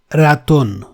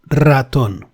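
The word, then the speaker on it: ratón: see the first word Raton which means Mouse there we have an initial ER that can never be pronounced as Ron it has to be rolled Ron it takes a bit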